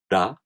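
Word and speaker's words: ら: For example, one of the Hiragana characters, this is pronounced ra.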